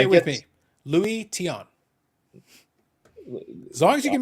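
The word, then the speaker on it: Luis Tiant: It's Louie Tiant. Yes. Louie Tiant. Louie it's not Tiant.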